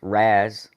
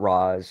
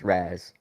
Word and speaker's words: Raz: Also, I would like to reiterate, since I've seen some confusion, it is pronounced Raz, not Roz or Rouse or anything like that. It's pronounced Raz.